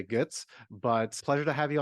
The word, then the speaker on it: Goetz: I would pronounce it in the German way, Goetz, but pleasure to have you on the show.